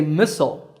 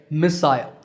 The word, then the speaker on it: missile: For example, Americans say missile, while the British say missile. But notice that the stress is on the first syllable in both.